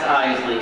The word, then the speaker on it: Iseli: My last name is the trickier part. It's Iseli. Not Isel, not Iseli, Iseli. 2 syllables, Iseli.